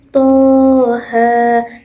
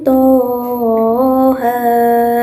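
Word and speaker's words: طه: ayat 1 yang berbunyi Toha. Itu membacanya cukup dengan 1 alif ataupun 2 harokat. Jadi tidak perlu 3 alif ya. Tidak perlu Toha. Nah, itu salah ya. Jadi membacanya cukup Toha.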